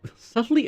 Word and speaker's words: subtly: man subtly as a subtly as a word is such a me just have to look at it it's like it's got the the B there silent B subtly subtly so there's